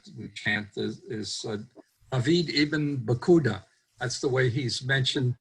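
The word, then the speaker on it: Paquda: relative of Bacha ibn Bekuda. Whose name is usually spelled with a P, but there actually is no P in Arabic.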